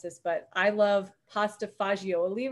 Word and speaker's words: pasta fagioli: I had to look up how to pronounce this, but I love pasta fagioli right now.